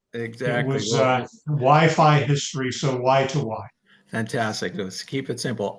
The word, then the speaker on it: Wi2Wi: how to pronounce it it's it's why it's y to Y go just like the stock symbol and just like WiFi exactly was WiFi history so why to why fantastic let keep it